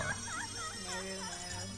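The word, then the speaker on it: Nayru: Nairo, it's pronounced.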